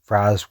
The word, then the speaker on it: Ra's al Ghul: They thought that Raz was incorrect, but Raz was actually the correct pronunciation.